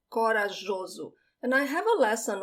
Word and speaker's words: corajoso: The J has this soft sound, jo, corajoso.